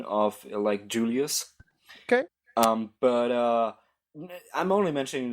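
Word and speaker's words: Iulius: Anyway, the point of the scene is ultimately that I'm actually pronouncing him Julius. The pseudo-Latin pronunciation of, Julius.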